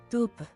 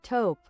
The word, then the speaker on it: taupe: How do you even pronounce that? Tupe. No, you don't. Nope. Not true. You don't pronounce it like that. What's up? What's up, G? What's up, Twizzer? Taupe.